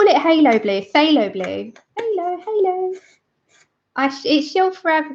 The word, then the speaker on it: phthalo: By saying it rhymes with halo.